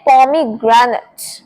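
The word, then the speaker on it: pomegranate: इसे बोलते हैं पोमीग्रेनेट। पोमीग्रेनेट। अब जहां पर ए टी ई आ जाए ना उसे हम इट का साउंड देंगे। इट एट का साउंड नहीं देंगे।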